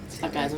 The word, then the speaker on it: Sargassum: Plant Tonic, a biostimulant from, well, how you pronounce it? Sargassum? Sargassum Right, Seaweed.